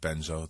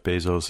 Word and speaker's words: Bezos: CEO of the company I'll give the mayor credit for an original mispronunciation of Jeff Bezos his name I've heard lots of people talk about Jeff Bezos I've never heard him called Jeff benzo so that's a first Denver's bid which was